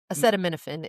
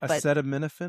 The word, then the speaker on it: acetaminophen: No, Acetaminophen is how people normally say it, acetaminophen. but it's correctly pronounced acetaminophen.